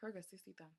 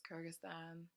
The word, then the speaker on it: Kyrgyzstan: kerbin Kyrgyz CC time I thought you say it Kyrgyz 60-ton its Kyrgyzstan I would have yeah